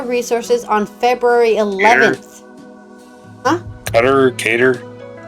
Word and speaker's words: Qatar: Qatar. It's Qatar. That's how they say it in their language.